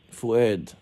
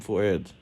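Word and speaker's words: Fouad: for you um what is your last name fued my full name is fued okay how do you say your last name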